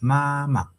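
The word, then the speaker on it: 妈妈: The first ma is the first tone, of course. And then the second syllable of ma has no uh tone above the vowel. It's just like this, the light and soft tone.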